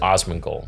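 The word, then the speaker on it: Asmongold: did you pronounce it Osman gold Osman like Donnie Osman gold yeah yeah more or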